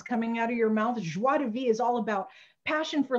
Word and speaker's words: Joie de Vie: So we want to welcome everybody to this new phenomenal, extraordinaire, and very exciting Joie de Vie. Joie de Vie. How do we pronounce it, Marnie?